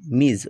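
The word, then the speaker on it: Ms: বাক্যটা রয়েছে মিস রেহানা এখানে মিস বলতে বোঝাচ্ছে অবিবাহিত বা বিবাহিত মেয়েদের ক্ষেত্রে মিস শব্দটা ব্যবহৃত হয় মিজ উচ্চারণটা বর্গীয় হবে মিস রেহানা তার নাম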